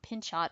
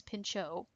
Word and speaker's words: Pinchot: associated with Gifford pincho it's not pin shot by the way it's Pinchot silent T his idea is that